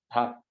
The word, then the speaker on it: 닭: 근데 이거 실제 발음하니까 어떻게 발음나? 닭. 이렇게. 단순화 됐니? 이런 경우를 자음군 단순화라고 얘기해요.